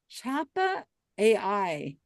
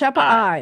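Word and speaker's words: Chappa'ai: Chappa AI. So is there like a It's not AI, it's I. Yeah, I was gonna say. Oh, Pronounced Chappa I.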